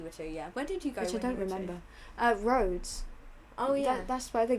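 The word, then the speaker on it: Rhodes: did you go which I don't remember uh roads oh yeah that's why the game we played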